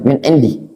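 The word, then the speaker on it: من عندي: Nah, kalau wa in tabarra'atul qa'imu, kalau orang yang ngurusi tadi, penanggung jawabnya tabarra'a, bersedekah bitakmili saman min indi ya benar bacanya min indi, bisa dia dijar ya, bisa dijar ya kan ya.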